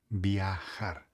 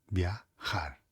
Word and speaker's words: viajar: A letra J nós conhecemos como J. E J para nós tem um som de garganta.